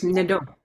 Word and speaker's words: Mnidoo: The M is almost silent. It's Mnidoo.